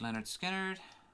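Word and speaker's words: Lynyrd Skynyrd: one of the last tracks from the debut pronounced leonard skynyrd uh one of those most one of the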